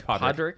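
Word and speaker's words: Pádraic: Oh, yeah, it's Podrick. Podrick.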